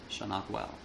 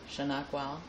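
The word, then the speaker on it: Shanokwele: Shanakwal. Shanakwal. Mm-hmm. Can you spell it? In English, Yes. S-H-A-N-O-K-W-E-L-E. Shanakwal.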